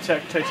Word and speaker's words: tektites: Oh, the room full of tektites. I said it right, guys. I said it right. It's tektites and there's a giant boulder.